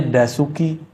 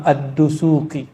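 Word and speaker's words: الدسوقي: Orang kita nyebutnya Dasuki. Itu mah orang Padang itu mah. Udasuki. Yang benar bacanya apa? Imam Ad-Dusuki.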